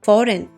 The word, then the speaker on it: foreign: Foreign the G is silent.